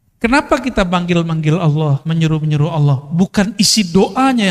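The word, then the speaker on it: الله: Nama Allah, tulisannya ada nama Allah. Dia melihat ada orang buang kaligrafi yang di situ tulisannya alif lam lam ha. Bacanya apa? Allah.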